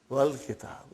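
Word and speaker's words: والكتاب: When it came in front of Hamzatul Wasal, you did not pronounce. You will say, wal kitab.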